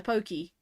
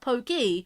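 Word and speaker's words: Pokémon: or pokes you know Pokey you know whereas I think the Japanese pronounce it poke because of the ACC because of the E and the accent it's not Pokey it's poke I mean think of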